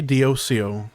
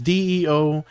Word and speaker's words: Deosio: You can say, most people just say Diocio. It's Deosio.